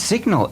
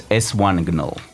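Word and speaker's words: S1gnol: Oh, yeah, his name is Signal. No, actually, and that's S1 Gnol. As this was immortalized by Brian, the TTS voice. It's S1 Gnol. That's the correct pronunciation.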